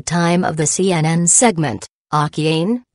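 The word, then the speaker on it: Akiane: 12 years old at the time of the CNN segment, Akien, pronounced Akiena, had begun having visions of heaven at the age of 4, the email said.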